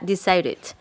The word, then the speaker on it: decided: pasado y participio pasado cuando lo pronunciamos ya todo completo en pasado se pronunciaría desir it es decir con esta it it al final del